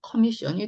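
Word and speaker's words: commission: 자, CO가 붙어 있으면요. 코 발음보다는 커 발음이에요. 예, 커. 그래서 코미션보다는 커미션이 더 맞고요.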